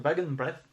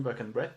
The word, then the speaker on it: Wagenbreth: C'est l'illustrateur, c'est Henning Wagenbreth, qui est un artiste allemand, donc on ne le prononce pas du tout Wagenbreth, mais Wagenbreth, je pense, ou quelque chose comme ça.